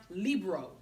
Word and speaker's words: libro: in the United States the word book in Spanish is pronounced libro if I said libro